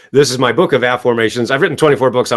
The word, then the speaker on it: Afformations: many years ago this is my book of a formations I've written 24 books I won't hold them